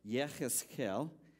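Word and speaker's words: יחזקאל: So Ezekiel, whose Hebrew name is pronounced Yechezkel, that's his Hebrew name, which means God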